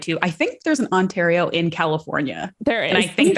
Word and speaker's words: Ontario: Ontario. It's a hard A.